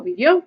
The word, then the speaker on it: vivió: So vivió, accent on the O.